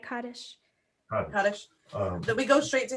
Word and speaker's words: Kaddish: You said it right, Kaddish.